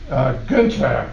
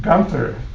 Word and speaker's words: Günther: Now, there's another name, Günther, or in this country mispronounced Gunther.